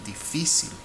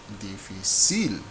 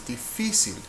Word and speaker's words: difícil: This word is pronounced difícil. Difícil. But it is not a default word, because by default, a consonant-ending word should be pronounced like difícil. But this is not difícil, this is difícil. So we sort of force the accent, force the stressed syllable to fall on the second to last syllable with an accent mark.